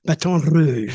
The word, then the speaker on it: Baton Rouge: Oh yeah, Baton Rouge. I love that. The roll the R, Rouge.